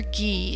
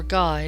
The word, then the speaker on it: Gay: a village in France it was pronounced either ghee in France or guy later in England the guy phonetic